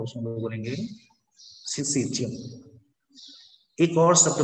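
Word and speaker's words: syncytium: This one is known as सिंसीटियम। ध्यान दो, मैं सिंसीटियम बोलता हूँ, तुम लोग सिंसीजियम उसको प्रोनाउंसिएट करना, सिंसीजियम, मेरा आदत बन गया हुआ सिंसीटियम बोलने का, ठीक है।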